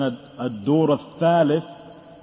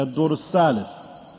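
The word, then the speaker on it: الدور الثالث: As some of the Arabs they pronounce, or others, the tha, it's lightly till it becomes like a sin, a sani. Instead of saying a dur al-thalith, say a dur al-salis.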